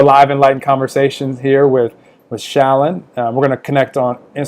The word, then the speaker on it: Shalane: I don't know how you do it, but it's a Shalane.